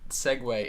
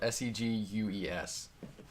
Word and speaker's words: segue: Speaking of segways, I just learned last week that segway in that context is not spelled S-E-G-W-A-Y, really? A machine that you ride. What is it? How's it spelled? It's spelled S-E-G-U-E-S. Or S-E-G-U-E for that's segway.